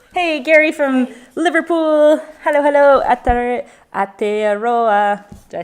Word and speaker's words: Aotearoa: Aotearoa. Did I say it correctly? Aotearoa. Aotearoa.